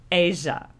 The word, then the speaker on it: Aja: Oh, apparently it's pronounced Asia. Asia. But I always just call it Aha.